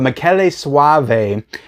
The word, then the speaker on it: Michele Soavi: he knew, Dario Argento, but his name is Michele Soavi. And I actually looked up how to pronounce his name before I said it because I didn't want to sound stupid, which I always do. But Michele Soavi is his name, and he directed this and